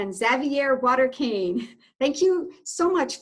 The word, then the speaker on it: Xavier: So I usually pronounce my name Xavier. Oh, Xavier. Okay. Yes, but Xavier is fine. It's French.